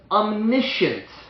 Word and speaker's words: omniscient: He's all-powerful, all-present, and we say he's omniscient. Omniscience. Omniscient is how you pronounce it, which means he's all-knowing.